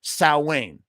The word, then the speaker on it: Samhain: one of them ever said sa Wayne not not one they all go Sam Hayne why because that's how they say it Glenn himself called he be like so how you pronounce it Glenn well technically it's Sam S but he he says it's Sam Hayne they all call it Sam Hayne who cares um oh